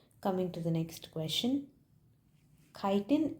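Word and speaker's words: chitin: Kiten is found in kiten or some pronounces as chitten.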